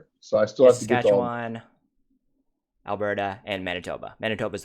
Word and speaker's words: Saskatchewan: Saskatchewan. Saskatchewan.